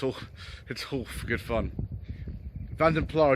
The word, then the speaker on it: Vanden Plas: Vanden Plas is actually the pronunciation that was used for this trim level in Austin Road publicity material at the time.